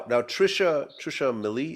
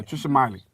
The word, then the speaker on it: Trisha Miley: Now Trisha Millie, is that how you pronounce her name? Yeah, Trisha Miley.